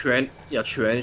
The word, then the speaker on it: Quan: Yeah, honestly, Quan, like I believe he's called Quan, Okay. because it's the direct translation from his Chinese name. Okay. That Yeah, makes so sense. Quan should be the correct pronunciation.